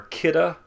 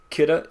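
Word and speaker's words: Kidde: rated smoke alarms are kitta first alert you're not going to spell that kitta k-i-d-d-e first alert and b-r-k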